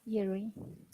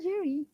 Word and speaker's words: Jerry: Say Jerry. Jerry, ja, yeah. Jerry. Mm. Jerry. Yes, Okay. Jerry, rolling R, Jerry, Jerry. Jerry. You see double R, Jerry. we have to pronounce only one R, okay?